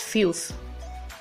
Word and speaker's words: filth: The TH, that is the last two alphabets, is th sound and not T. It is th. When pronouncing this word, you lift your tongue in a manner that it's gonna be touching your upper teeth.